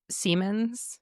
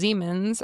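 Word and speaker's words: Siemens: Uh who you know there's that company Seammens. Yes. Uh, he was German. Okay. So, it's actually pronounced Zemens.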